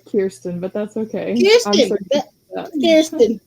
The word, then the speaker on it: Kierstan: So I'm gonna bring up Kristen, and did I pronounce that correct? Is it Kristen or Mm? no, it's Kierstan, but that's okay.